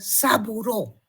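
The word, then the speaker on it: Sabouraud: Se escribe saburout y se lo pronuncia como agar saburó y también el agar micosel.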